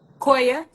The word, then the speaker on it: Koya: Koya. What' you say? How do I pronounce your first name? Koya.